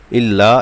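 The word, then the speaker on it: إلا: লা ইলাহা ইল্লা হুয়াল ইল্লা ইল্লাতে এক আলিফ টান হবে এবং হুয়াল এই ওয়াও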